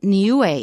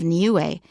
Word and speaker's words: Niue: how to pronounce it we've got three vowels and each one is pronounced separately so it's nuu n